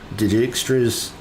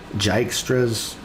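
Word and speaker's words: Dijkstra: I don't even know how to pronounce that Digstras. Jystras. Dystras. I forget. The J is silent.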